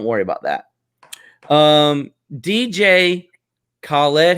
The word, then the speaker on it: Khaled: order so don't worry about that um dj khaled how do you pronounce that word okay yeah khalid x air jordan three grateful now who is